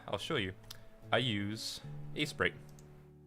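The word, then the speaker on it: Aseprite: I use A-Sprite. I believe that's how it's pronounced, A-S-E-P-R-I-T-E, A-Sprite.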